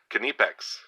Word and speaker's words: Knipex: made in Germany um I thought the K was silent but I think it's not and I think the I is pronounced e so it's uh canipex I have a horrible